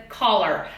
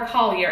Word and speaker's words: Coller: It's Elizabeth Coller. I don't know what it is. For some reason, I always want to call her Collier, and she knows this, and she's okay with it.